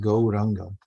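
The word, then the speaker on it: Gauranga: it last week and it's actually a four syllable mantra although it sounds like only three it's very famous mantra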